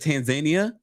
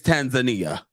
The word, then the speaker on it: Tanzania: Oh, and sidebar, because I thought I was saying it wrong when she said Tanzania. And I said, well, she's learning Swahili. Maybe someone taught her how to say it properly. But then I saw the Africans say it's Tanzania.